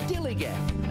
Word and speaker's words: DILLIGAF: That's spelled D-I-L-L-I-G-A-F, dilligaff.